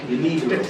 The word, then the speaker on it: De Niro: Is it, how do you pronounce this? Robert? De Niro.